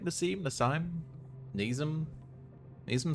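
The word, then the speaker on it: Nasim: Congratulations, John and Nassim. Am I saying that right? Nassim? Nassim? Nazim?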